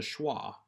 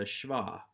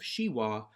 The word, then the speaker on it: shewa: introduce here again is the schah or again if you want to use the German influence pronunciation with the W's as V's the shva you may also prefer the redneck pronunciation of shiwa but then everyone will make fun of you for the rest of your life almost every consonant when